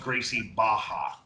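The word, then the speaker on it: Gracie Barra: a lot of pronunciations is pronounced like an H in Portuguese right and now people going why did I speak Portuguese not Brazilian whatever educate yourselves people right so it's pronounced gracie baja all right yeah that's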